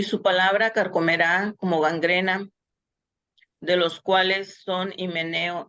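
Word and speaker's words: γάγγραινα: gangrena, porque el diptongo de la alfa y la iota es un diptongo, son dos vocales unidas, en griego se pronuncia como E, gangrena.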